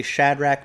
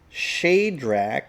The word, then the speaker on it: Shadrach: so according to this we've been actually saying that name shadrach wrong at least that's how i've always said it that's how i've always heard it how do you say his name according to the self-pronouncing text it's not shadrach it's shadrach shadrach meshach and abednego so